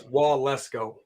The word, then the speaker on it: Waletzko: It sounds like Wall Let's Go, but it's Waletzko. Oh, okay.